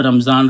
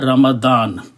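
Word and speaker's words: رمضان: एक बात और है हम लोग इसे रमजान रमजान बोलते हैं उर्दू में लफ बिगाड़ दिया है असल लफ्ज है रमदान तो मैं उसी तरीके से प्रोनाउंस करूंगा यहां पर अल्लाह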